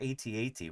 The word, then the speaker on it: AT-AT: Denver says, oh, they're at walkers. And I say, no, Denver, they're AT-AT walkers.